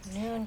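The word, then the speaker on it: Nuun: Same thing with Noon tablets. They are just really they have different kinds. There's one for sleep. There's one for vitamin C, like immunity, and there's one for energy. Noon tablets.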